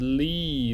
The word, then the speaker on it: 力: And this is li, le, yi, li.